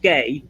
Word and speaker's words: ga: G to a now G A is Irish it's pronounced gay which I think is